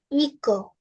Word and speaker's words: hijo: For son, the word is echo. Eco. Echo. We pronounce it as E.